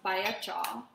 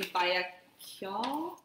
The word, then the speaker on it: Bayakyaw: I think it's pronounced Bayakyaw, but it's spelled like I would kind of say Bayakyaw.